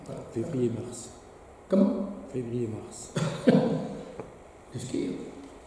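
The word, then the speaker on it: skyr: Du skir. Pas du skir. Hein. D'accord. Ah non, du skir, le skir. Le skir, c'est, ça s'écrit en tous les cas en français, S-K-Y-R, c'est un yaourt islandais.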